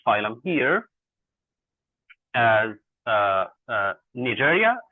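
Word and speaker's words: Cnidaria: Uh uh uh Nidaria, C is silent here.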